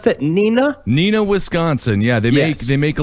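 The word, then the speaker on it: Neenah: A 300-pound Nina Barber who owns is that how you pronounce that? Nina, Wisconsin.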